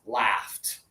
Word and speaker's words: laughed: In the past, laughed. Yeah. So, even though it has an au, it's not good. No, this is laugh. It's like the a of bat.